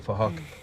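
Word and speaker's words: Phuc: His name is Fahok, but it's spelled with a PH, so it sounds like Fahok.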